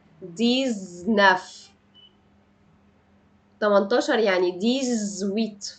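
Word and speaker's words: dix-huit: رقم 19 يعني ديزنافطق ز ديزناف 18 يعني ديز ويت فبنطق الاكس هنا ز ديز ويت ويت ويت امتى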